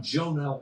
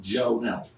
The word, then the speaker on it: Jonell: I lived over on Jonell Court. Jon Court. Yeah. Right off of St. Charles Road. Jell Court. No, it's Jonel. Jonell. Jonell. Jonell. It's actually pronounced Jonell.